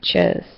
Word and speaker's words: chores: So think of it almost like a cure, cure. It's got that same sound at the end. So add, then chores.